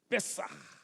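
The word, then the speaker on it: פסח: O nome daquele dia, Páscoa, que no hebraico, na realidade, pronuncia-se assim, Pessah. É assim que pronuncia-se no hebraico a palavra Páscoa.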